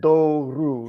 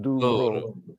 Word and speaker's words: Douro: Douro, not Douro.